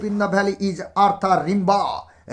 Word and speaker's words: Rimbaud: The composer of the poem Asleep in the Valley is Arthur Rimbaud. বানানটা এইভাবে করলে তুমি বানান লিখতে ভুল করবে না। RIMBAUD ARTHUR আর্থার RIMBAUD রিবা। ঠিক আছে, আর্থার রিবা।